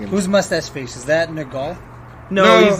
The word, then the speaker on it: Nergal: Nergal. Nergal. Not Nurgle. Nurgle. There's no E in there.